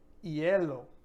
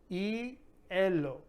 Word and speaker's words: hielo: First up here, we have for ice, we have hielo. Hielo, hielo. So we're not going to pronounce the H here.